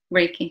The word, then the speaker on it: Reiki: healing you practice raiki is that how it's pronounced yeah raiki awesome what is that exactly I hear a